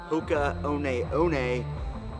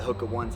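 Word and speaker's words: Hoka One One: now I'm using the hookah own a own a as I learned how to pronounce it as I was calling it the hook of ones last time having yoohoo Kona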